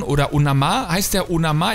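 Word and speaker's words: Onomah: wir haben hier Josh onaman oder onama heißt der onama ich glaube er wird onama ausgesprochen habe ich mir auch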